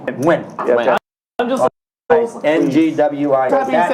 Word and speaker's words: Nguyen: So like the last name Nguyen, it's not Nguyen. It's Nguyen. Win.